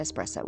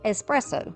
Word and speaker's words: espresso: who told me that it's pronounced espresso. My whole life, as country as I am, we have said espresso. That is incorrect.